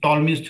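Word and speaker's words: Ptolemy: हमारे पास एक famous टॉलस theorem आता है। P यहां पर साइलेंट है।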